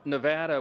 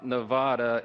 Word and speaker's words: Nevada: For my friends from Nevada, we are shaking. We're from Louisiana. Some people pronounce it Louisiana. So we always say Nevada, and now it's supposed to be Nevada.